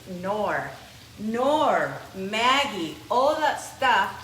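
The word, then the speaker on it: Knorr: used to call it kannur but then the the K is silent rice was not nor its nor nor Maggie all that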